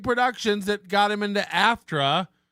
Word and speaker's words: AFTRA: What's the big productions that got him into AFTRA, or as he pronounces it again, AFSTRA?